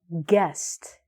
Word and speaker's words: guest: We say guest.